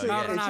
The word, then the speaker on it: Marinaccio: No, it's Marinaccio.